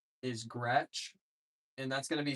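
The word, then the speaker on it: Groetsch: That's spelled I A. My last name is Gretch and that's going to be spelled G R O E T S C H.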